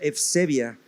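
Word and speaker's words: εὐσέβεια: Se escribe Eusebia, Eusebeia, pero se pronuncia Eusebia, y efectivamente es piedad o piadoso.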